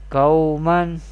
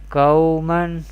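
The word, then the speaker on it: قَوْمًا: We recite like this without stretching: Qawman, Qawman.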